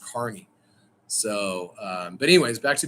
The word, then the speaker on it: Kearney: Kearney, Missouri is spelled Kearney, but everyone says it's pronounced Kearney.